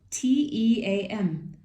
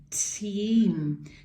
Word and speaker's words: team: vowels in this word so when two vowels are walking sometimes the first one does the talking so the second vowel is silent i'm just gonna cross it out so you can remember it's silent the second vowel is silent and the first one makes the long sound let's say it again